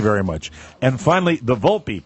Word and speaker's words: Volpe: But it says, and finally, the Volpe, pronounced Volpe.